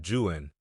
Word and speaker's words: Juan: San Juan without confusion it were better that we should follow the example of Lord Byron and pronounce it jwan but this the people of the Southwest will probably never do they will speak of